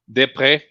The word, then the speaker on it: Després: It's pronounced Sylvain. Sylvain. A-I-N. Desprez, because it's joining two words. The S would be silent, as it's an article, and it's an article in the plural. And pré ends in a Z, but turns into a circumflex.